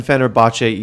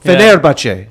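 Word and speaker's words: Fenerbahçe: And then we got Royal Never Give Up, Samsung Galaxy, 1907, Fenerbahce eSport, which is the best name in the group stage. You said it wrong. You said it wrong. Fenerbahce.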